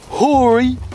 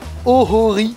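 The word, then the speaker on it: Ōhori: Et là on va rentrer dans le parc qui s'appelle le Hori. Putain, la prononciation immonde. Le Ohori Koen.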